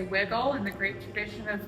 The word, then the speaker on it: Wigle: Pittsburgh, so we are Wiggle. I think we get that question a lot, actually, if it's Wigle or Wigle. Yeah, it's just the Pittsburgh pronunciation instead of the German pronunciation of Wigle.